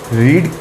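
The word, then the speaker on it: read: Spelling same रहती है, लेकिन फर्स्ट फॉर्म को हम बोलते हैं रीड, सेकंड फॉर्म को बोलते हैं रेड, थर्ड फॉर्म को बोलते हैं रेड।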